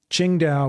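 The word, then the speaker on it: Qingdao: You may have heard of Ching Dao beer or it's spelled singing Tao here, but it's actually spelled or said Chingda, which is on the coast.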